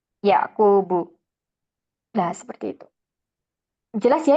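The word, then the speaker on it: يَعْقُوبُ: memastikan ya m membacanya tidak boleh ada tanwin bukan sulaimanun atau daudun atau ayubun tapi ayyubu sulaimanu yaquubu nah seperti itu jelas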